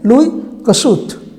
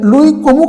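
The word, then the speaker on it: Louis Kossuth: C Bismarck option D লুই কুসুত এখানে সঠিক উত্তর হলো অপশন ডি লুই কসুত এখানে যে লুই কমুক আছে উচ্চারণটা হবে লুই কসুত 10 নম্বর প্রশ্ন শিল্প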